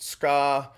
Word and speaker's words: tsuka: The tsuka, or often pronounced ska, is the handle.